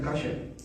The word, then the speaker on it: kosher: Se escribe kosher, pero se pronuncia kasher.